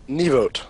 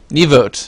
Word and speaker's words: Nieuwoudt: put your last name so I'll let you pronounce it pardon neote neote Nick neote um and you're uh developer for